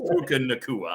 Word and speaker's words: Puka Nacua: So yeah, it is Puka Nacua. I guarantee you on that one. I'm not lobbing my particular pronunciation here.